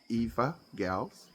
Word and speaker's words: Evagals: Eva Gals, we pronounce it Eva Gals.